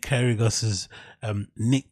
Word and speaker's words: Kyrgios: Then we have to move on and talk about Nick Kyrgios, that's how you pronounce his name, right?